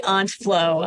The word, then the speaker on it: Aunt Flow: even had the discussion how do you say it I say Aunt Flow and uh you're right back in 2016 was